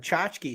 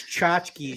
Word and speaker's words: tchotchkes: out they're called tchotchkes it's spelled with a t like a Polish yeah it's like TCH there's like two T's in it because like my wife kept using the term chotsky so I like looked it up and Google like you were talking about how the algorithms know I'm an idiot so I type in tchotchkes like spelled like on Happy Days and it's like it's chachkies you idiot and it spelled it